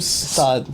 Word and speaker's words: Saad: You pronounce your name Saad.